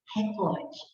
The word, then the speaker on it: recorde: Você só escuta falar recorde, mas a pronúncia não é recorde, a pronúncia é recorde, certo? Aquele atleta bateu o recorde na natação, certo? É essa que é a pronúncia correta, é o cor, que é a sílaba tônica da palavra.